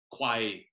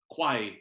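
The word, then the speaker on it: ควาย: So if you hear me say water buffalo, and then, for instance, we'll hear me say quai after that, quai is the Thai word for water buffalo.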